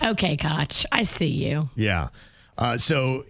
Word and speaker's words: Koch: We're going to spell it so it looks like it's one way, but we're going to pronounce it another just to throw everybody off. Okay, Koch.